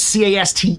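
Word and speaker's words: caste: So it's C A S T E is how you say cast system.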